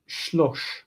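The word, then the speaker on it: שלוש: Shalosh becomes shlosh because the first syllable is generally reduced if possible.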